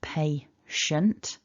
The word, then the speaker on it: patient: a completely different word what we need is pay shun and I've already given you a clue to